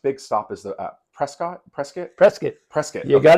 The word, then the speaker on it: Prescott: big the next big stop is the uh Prescott presc presc presc you got to say presc presc okay again I think I was telling